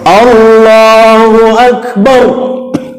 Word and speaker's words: Allahu Akbar: Banyak pendek atau panjang? Pendek. Allahu Akbar.